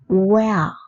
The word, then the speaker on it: where: அமைகின்றது என்று பார்க்கப் போகின்றோம் நீங்கள் தற்போது திரையில் பார்க்கும் மூன்று சொற்களையும் நம்மில் பெரும்பாலானவர்கள் ஒரே உச்சரிப்பைக் கொண்டு உச்சரிக்கின்றனர் ஆனால் அவ்வாறு உச்சரிக்கக்கூடாது wh இ ஆர் இ வேர் வேர் அப்படின்னா எங்கு அல்லது எங்கே